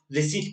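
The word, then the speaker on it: receipt: मैं बार बार रिसीट पढ़ रहा हूँ, रिसीट ही पढ़ते हैं, रिसीट लिखा जाता है, पढ़ते रिसीट है, पढ़ते रिसीट है, तो मैं सही बोल रहा हूँ, मतलब प्रोनाउंसिएशन सही है, ध्यान रखिएगा।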